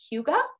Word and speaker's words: hygge: It's called Hygge in Denmark, and it means togetherness.